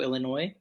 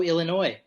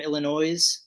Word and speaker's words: Illinois: from Chicago, Illinois. Yes. My Before we, my home state. Woohoo. yeah, go Illinois, Yeah. or as Jay from Jay and Silent Bob pronounce it, Illinois.